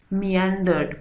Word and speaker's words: meandered: आपने इसकी प्रोनाउंसिएशन देख लें, मियांडर्ड पढ़ते हैं इसको, और इसका मतलब भी